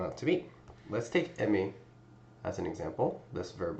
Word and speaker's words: aim: Now we're left with aim or in French this would be pronounced m.